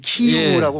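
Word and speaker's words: Київ: 그러니까 이제 키예프라고는 하면 안 되고 이제 키이우라고 우크라이나어로 해야 되는데 맞아요. 러시아 발음이죠 키예프가.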